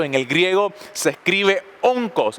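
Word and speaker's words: ὄγκος: Esa palabra peso en el griego se escribe onkos. ¿Y sabe lo que significa? Onkos con K. Onco, así como suena, O-N-K-O-S.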